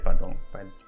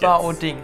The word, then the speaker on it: Baoding: Nein, hier Badong. Was auch immer. Los geht's. Baoding heißt es.